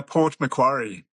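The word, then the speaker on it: Port Macquarie: Now, the town that you grew up in, what how do you pronounce it? It's uh Port McQuary. McQuary. Okay. Port McQuary.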